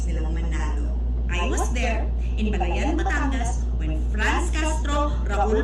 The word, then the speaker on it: Balayan: gobyerno nandun siya in Balayan Batangas Hindi yan Balayan diyan Berna Balayan hindi Balayan walang stress sa huling syllable Balayan ganun yon Anyway so much for